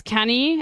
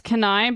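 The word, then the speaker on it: Cannae: began to word report the American pronunciation is canny and the British one is canai but some people try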